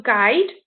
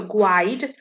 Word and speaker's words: guide: got the silent year we shall guide we don't get i go i'd or gwide we don't do that